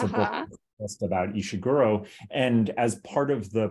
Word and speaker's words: Ishiguro: your podcast how do you say his name ishiguro have you do you haven't interviewed him right have you tried yes yeah and well so I'm I'm finishing a book about him it's about just about ishiguro and as part of the proposal for the